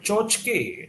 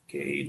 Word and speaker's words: tchotchke: The next word is called chochke. It's pronounced Chochke, chochke.